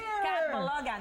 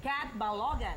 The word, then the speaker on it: Catbalogan: Catalogan. Ba't spell mo? Spell mo tuloy. Pronounce mo catogan. Cat Balogan.